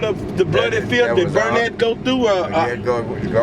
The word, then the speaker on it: Burnett: Jensen and we're on Burnett Street right is that how you pronounce it yeah burn it okay and ready on